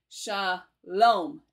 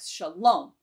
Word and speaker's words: Shalom: Now you say Shalom. L-O-M-E, the loam pronunciation, is the all caps part. That means it's with more force, right? Shalom.